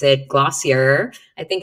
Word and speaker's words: Glossier: So this is from a company, I guess we would pronounce it Glossier.